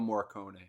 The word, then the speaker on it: Morricone: How do you pronounce his last name? Ennio Morricone.